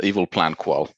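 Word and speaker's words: EvalPlanQual: It sounds a lot like the evil plan qual stuff. Oh, yeah, that's stuff. The evil plan qual stuff? Eval plan qual. Oh, no, Recheck stuff. I'm pretty sure the correct pronunciation is evil.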